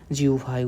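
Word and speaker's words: জিহ্বা: কবিতার মতো এরপরে বলতেছে জিউভায় উচ্চারিত প্রতিটি মুক্ত শব্দ কবিতা আমি আবারও বলতেছি এটার উচ্চারণ কিন্তু জিউভা হবে হ্যাঁ জিউভা উচ্চারিত প্রতিটি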